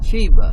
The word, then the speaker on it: Shea: Shea. Shea is how you pronounce it.